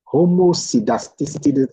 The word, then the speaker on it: homoscedasticity: pronounce it as K pronounce the C as K so it sounds great homocedasticity homos like Russian now